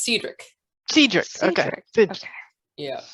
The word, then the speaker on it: Cedric: I've been told it's pronounced Cedric.